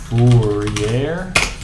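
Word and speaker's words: Fourier: when we do fast 4A multiplication I'll rate that out that is fast Fier without the r pronounced um fast Fier multiplication um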